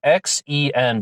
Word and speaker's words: Xen: he went by Xen, X-E-N, but I was reading on a forum about someone who had been researching him who said that it was pronounced Xen, like Z-E-N, but it's spelled X-E-N, Xen.